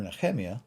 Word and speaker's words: Nehemiah: When Ezra and Nehemiah, or Nehemiah, as it's properly pronounced, when they got back after the Babylonian exile, they rededicated the temple.